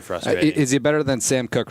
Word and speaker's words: Koch: Is he better than Sam Cook right now? Who? The Ravens punter. Oh. The Ravens punter is Sam Cook? Yeah. Well, it's spelled Koch, right?